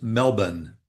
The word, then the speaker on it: Melbourne: It The correct pronunciation is Melbourne, Melbourne.